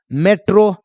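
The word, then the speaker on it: metro: वैसे ही है एम ई को बोलेंगे मे, है ना, टी को ट बोलेंगे। अब देखो आर को र बोलेंगे ओ फिर देखो लास्ट में आया तो ओ की मात्रा लगा दो, क्या बन जाएगा मेट्रो, क्या बन जाएगा मेट्रो।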